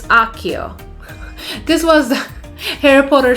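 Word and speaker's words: Accio: It's not Akia, it's Akio.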